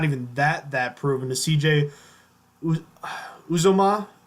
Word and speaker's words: Uzomah: that proven, to CJ Uzomah. Uzma? How do you say that name? I say Uzomah. Uzomah.